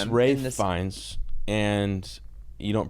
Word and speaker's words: Fiennes: Fiennes, and you don't pronounce CL.